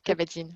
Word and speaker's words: Kabat-Zinn: hein, ça a été inventé là, par John Kabat-Zinn, je crois, hein, je ne sais pas si je le Ouais, prononce bien. c'est ça, Kabat-Zinn, ouais.